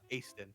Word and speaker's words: Easton: Easton. Aston.